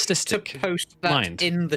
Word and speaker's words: solipsistic: It's not solop. It's solip.